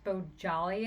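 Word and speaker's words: Bohjalian: the flight attendant by Chris Beau jolly and I think is how you say his name I'm used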